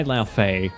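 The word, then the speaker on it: Laufey: From the start by La Feay.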